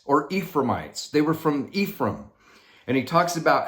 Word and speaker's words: Ephraim: comes through Joseph through Ephraim Ephraim Ephraim is how they say it it's the ephraimites